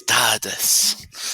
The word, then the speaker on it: tardes: Buenas tardes. Tardes. Got to roll your R's, Mark.